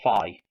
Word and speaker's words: phi: have called him because there's two ways of pronouncing this fee or fi and i'm sure jack